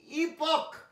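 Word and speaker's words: epoch: এই ইপক, যুগ, ই ইপক, সিএইচ ক উচ্চারণ লক্ষ্য করেছ, ইপিও সিএইচ, সিএইচ ক হয় অনেক আগেও সেকেন্ড ও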